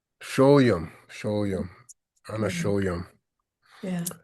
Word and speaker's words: Sólyom: Well, in Hungarian, we would pronounce the S and S. So it would be like Sólyom. Sólyom, Sólyom, Anna Yeah.